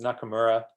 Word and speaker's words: Nakamura: often on the ielts listening test that's close it's spelt n a k a m u r a so danny corrected the other speaker it's not